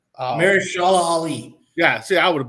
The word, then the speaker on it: Mahershala Ali: Marsh, Maherchla or ALA Ali. Mahershala Ali.